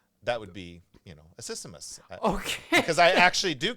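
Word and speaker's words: accismus: s m u s a systemus is I believe how it's pronounced and it's a form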